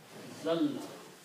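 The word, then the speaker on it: أزلّ: When you read, when there are two letters together, this is written and pronounced like this way. A, azalla. Azalla.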